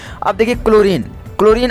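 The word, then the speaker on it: chlorine: है उच्चारण ठीक है इसे क्लोरीन को आप चुन ओरियन पढ़ोगी क्लोरिन बताओ तुम ही ठीक है इस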